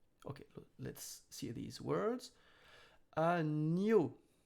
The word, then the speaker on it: agneau: Agneau. Remember, E-A-U are O. So, agneau, agneau.